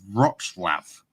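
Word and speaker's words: Wrocław: Um, a place called Roxlav is how you pronounce it, I do believe.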